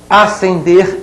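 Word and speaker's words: ascender: que é o Irã asender e acender olhem bem são dois homônimos homófonos não são parônimos a letra s não se pronuncia ali no segundo verbo hein estão dois homônimos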